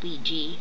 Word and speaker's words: Ouija: Yes, that's how it is spelled, but it's actually pronounced Wee-Jee.